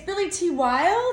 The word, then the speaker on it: Billy T Wilde: but how do you pronounce your name it's Billy T wild is how you pronounce the name of your band yeah yeah